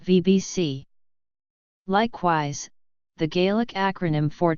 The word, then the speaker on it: BhBC: written as BHBC Alba, with the acronym pronounced VBC.